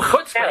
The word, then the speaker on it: chutzpah: Oh, chutzpah. You actually... Wait. Say that word again, please. Did I say it like I'm from Connecticut? Say it again. Chutzpah. Try the chuh. Chutzpah. There you go.